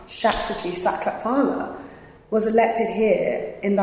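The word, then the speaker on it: Shapurji Saklatvala: Shakraji Saklat, let me say his name right. Shakraji Saklatvala was elected here in the 1920s as the first Asian MP.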